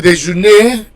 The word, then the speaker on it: déjeunez: Alright, so number 16, numéro 16, you pronounce the E, vous déjeunez, because there is a Z at the end.